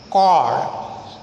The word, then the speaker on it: chord: While in some other words, the same letters CH are pronounced as ka, as in cord, CHORD, cord.